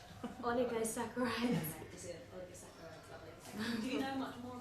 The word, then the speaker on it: oligosaccharides: The word oli, could you just pronounce it for me? I keep saying it. Oligosaccharides. Oligosaccharides.